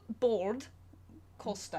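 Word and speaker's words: Bård Kolstad: We had the amazing opportunity to interview Bard Kolstad, or do you want to do the proper pronunciation? bored. Costa.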